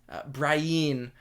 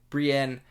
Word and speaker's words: Brienne: Like, yes, it annoys me to hear every time Brian or Patire, but it's such a small thing,